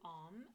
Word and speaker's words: Om: breath in, and then you're going to say the word Om. And as you're doing that, you are opening your mouth. Om. And the bit, as you put your lips together, the tongue is going to go to the roof of the mouth.